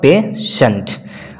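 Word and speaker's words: patient: तो इस रूल में देखिए आई ई है, तो यहां पे जो इसका प्रोनाउंस होगा बड़े स होगा पेशेंट।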